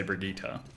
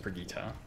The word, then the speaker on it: Brigitte: the overwatch developers say brigitte because it's not french it's german it might be a bridget but thank you her name is pronounced brigita i love recall it's